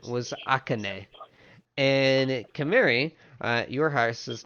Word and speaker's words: Akane: Akane. It was like A-H, Ka, K-H, Ne for the pronunciation. The actual name is spelled A-K-A-N-E.